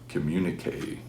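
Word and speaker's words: Communiqué: So this is Dire Straits #1, and from 1979 we get Communique, because that's how you pronounce it.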